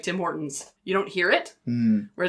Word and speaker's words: Tim Hortons: He like emphasizes the T. Yeah, no, the emphasis is wrong. The emphasis is incorrect. On the wrong syllable.